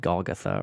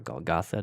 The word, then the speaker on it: Golgotha: the skull or sometimes called Golgotha or Golgotha depending on your pronunciation all three were crucified